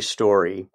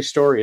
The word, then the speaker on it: Storey: Unless it's Storey, I don't think so. Stephanie Storey is the way it's pronounced, I do believe, but Stephanie's going to clean everything up I'm about to say.